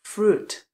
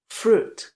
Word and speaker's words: fruit: to není správná výlov správná výslovnost je fruit fruit Přesně tak bez toho J to i v té psané podobě se tam vůbec nevyslovuje a místo toho tam máme dlouhé u fruit fruit takže pozor na